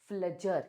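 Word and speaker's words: Pflüger: पी से start होगा। लेकिन आपको क्या करना है? पी को साइलेंट करके बात करनी है। फ्लजर क्या बोलते हैं इसको?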